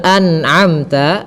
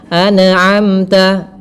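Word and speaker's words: أنعمت: Kemudian pada lafal an'amta harus dijelaskan nunnya dan tidak boleh memantul. Tidak boleh anamta. Anamta tidak boleh memantul tapi anamta. Anamta.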